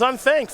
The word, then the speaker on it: Unthank: Is that how we pronounce that? Unthank? I don't know. Let's That'd be kind of a fun last name. Let's find out. I actually typed up his deck list a little bit earlier today, so it is Unthank.